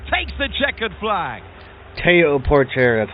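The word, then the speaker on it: Théo Pourchaire: Teo Porcher takes the checkered flag. Teo Port.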